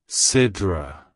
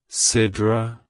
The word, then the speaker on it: Sidra: Origins it's pronounced as Sidra Sidra Sidra to pronounce it correctly emphasize the first syllable as ID and use